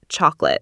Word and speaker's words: chocolate: say it if not chocolate? That's how everyone says it. Indeed, it's a common sweet-sounding trap. The correct way is chocolate. The O is almost silent, giving it a 2-syllable punch, not 3.